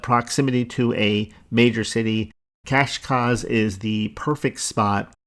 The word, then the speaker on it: Cascais: Next, I believe you pronounce this Cascais. I know if I spoke Portuguese, it would sound different, but Cascais, that's Cascais.